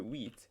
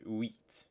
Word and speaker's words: huit: So in French, moving on to wheat, H's are silent. So you would just say U. You would just pronounce the U and the E sound. So the wheat.